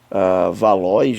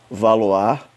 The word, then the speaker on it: Valois: com nome aqui de valois né mas na verdade se pronuncia valoar deixa eu só pegar